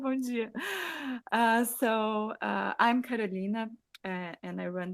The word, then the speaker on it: Bom dia: Bom dia.